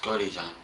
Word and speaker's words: Godejohn: and what is your last name it's gordy john and how do you spell that it's j o d e j o